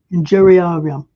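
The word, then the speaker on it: iniuriarum: Injurarium.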